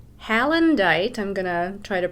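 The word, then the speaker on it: Heulandite: Some of them are in containers all over the place, but this first one here is called Hallandite. I'm going to try to pronounce it correctly. Hewlandite. It's Hewlandite with stilbite.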